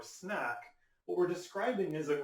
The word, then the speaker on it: SNAc: acyl Center AC so when you see the kind of an abbreviation or acronym SNA c e or snack what we're describing is